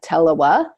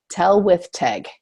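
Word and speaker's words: Tylwyth Teg: So he's like, Tellawa. So he's trying to understand what's going on there. And then the character actually tells him how to pronounce it. Tell with Teg.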